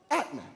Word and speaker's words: Atman: with a cologne called Atman the word Atman pronounced in the Sanskrit like Atma is interpreted as main